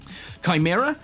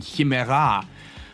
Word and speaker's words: Chimera: In Greek, it would have originally been Chimera, or Chimera, which literally translates as she-goat.